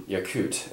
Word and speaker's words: Yakut: here essentially you're going to be consolidating in yakut and that's how you pronounce that i actually checked the pronunciations of what most of these territories i'm about to pronounce so yakut is going to get six infantry of the